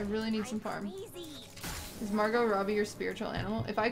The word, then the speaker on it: Margot Robbie: need some farm is margot robbie your spiritual animal if i could look like margaret robbie i would sell my firstborn i think you added an extra syllable to her name am i gonna go